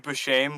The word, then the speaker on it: Buscemi: It's just funny because Steve Buscemi, which is actually how it's pronounced, by the way, as a penguin who sells fake Rolexes, that's funny.